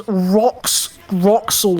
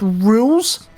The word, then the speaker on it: Rules: Funnily enough, um, some people didn't know how to pronounce rules card's name. They pronounced as rockol or something. This game actually decided to actually tell people. Yeah. Um, it's actually pronounced rules. Like a rules card. A card that's used to tell you how to play a game.